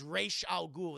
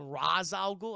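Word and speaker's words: Ra's al Ghul: put up a fear counter you sang his name wrong no his name is rachel ghoul they say they know the movie got it wrong they call him raz al ghul that's how you say his name his name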